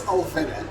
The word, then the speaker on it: Alvinne: So once and for all, is it Alvinne? Actually, it's Alvinne.